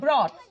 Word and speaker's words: brought: আবার বট, BOUGHT, বা ব্রট, BROUGHT, এগুলো সবেতেই এরকম হয়।